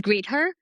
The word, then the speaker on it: Greether: And lastly, if you um if you want to join as a greeter as a greeter in a greeter platform. So by the way, it's greeter at the company and then our greeters we call them greeters.